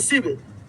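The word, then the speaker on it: sieve: तो वही स्लीव यानी शिव, शिव यहाँ पे एल साइलेंट है ना, इंग्लिश में भी लिखा हुआ है।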